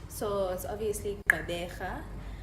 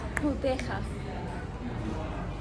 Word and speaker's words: Gqeberha: Gqeberha, and I mean, I feel like they do use clicks like Q's and stuff.